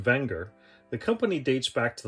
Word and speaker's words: Wenger: a quick history of the wenger brand technically pronounced wenger the company dates back to the late 1800s